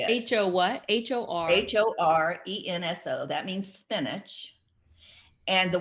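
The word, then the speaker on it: ほうれん草: spell it? Horenso. Edwin, maybe you can say it. H-O what? H-O-R. Horenso.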